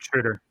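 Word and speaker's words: Schröder: I see what Dennis Schroeder, how do we pronounce his name? Schroeder. Yep, you're right, Schroeder.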